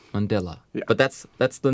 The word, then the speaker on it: Mandela: yeah so this is nelson mandela rhymes with stella and stella is a